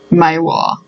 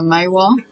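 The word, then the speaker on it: Maiwar: no i think it's i think it's pronounced maewa the maywa colloquy colloquially we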